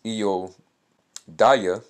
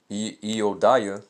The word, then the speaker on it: Judea: All right, so Judea is pronounced as Eodiah, Eodiah, and Idumea is pronounced Idumaya. Okay? So Eodiah and Idumaya.